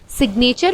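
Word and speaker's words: signature: वही चीज़ सिग्नेचर में जी को हम प्रोनाउंस करते हैं, यहाँ पे जी साइलेंट नहीं होता, तो ये हमारा एक एक्सेप्शनल केस है।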